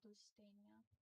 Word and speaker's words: Lusitania: It's pronounced Lusit- uh Lusitania.